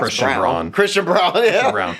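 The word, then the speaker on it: Christian Braun: What it's pronounced Christian Brown.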